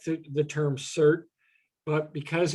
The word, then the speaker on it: CERT: didn't like the term cert but because it's pronounced cert and there's another s-e-r-t in portland that's a unit of